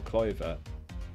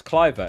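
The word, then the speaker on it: Kluivert: I definitely wouldn't start Taylor, so it's Branthwaite or Cloyver. Cloyver? I always forget to say it. It's Cliver, isn't it?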